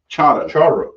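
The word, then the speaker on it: charro: Charo. Charo. Yeah, it's spelled charo, but Yeah. those two R's is going to be pronounced charo.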